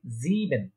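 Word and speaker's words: sieben: দেখেন এখানে আই আগে ই পরে, তো আই আগে ই পরে থাকলে ইয়ে, ইয়ে উচ্চারণ হয়। এখানে ছিল ই আগে আই পরে, তাই এটা উচ্চারণ হয়েছে আই। যেহেতু এখানে ই আগে আই পরে, তাই এটা উচ্চারণ হচ্ছে কি ইয়ে।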